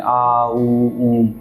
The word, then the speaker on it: ओम: ओम का जब उच्चारण करते हैं, आ ऊ ऊम, क्योंकि आपने बोला ना